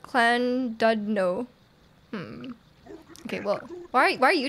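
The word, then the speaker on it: Llandudno: It's pronounced Clan Dudno.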